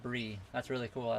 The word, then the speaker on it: Bry: Your name is spelt like B-R-Y, but it's said Brie.